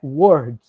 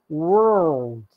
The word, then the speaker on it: world: Ela não é word, ela é world.